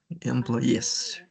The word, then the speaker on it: employees: Be careful because we have 2,000 new employer employees. Yeah. Can you repeat the the pronunciation employee? Employees. Okay. The emphasis is in the last sentence. Okay. Employees at the end.